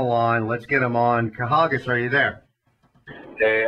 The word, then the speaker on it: Kahagas: You know, I know you guys up there from the Northeast got a little, you know, issue with pronunciation a lot of times, but it's Kahagas.